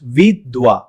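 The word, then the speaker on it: विधवा: It's pronounced vidwa.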